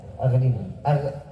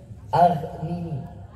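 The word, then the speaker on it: أغنني: Setiap 10 baca Aghnini. Aghnini. Ya, Aghnini. Pakai ghaf. Pakai ya, ghain.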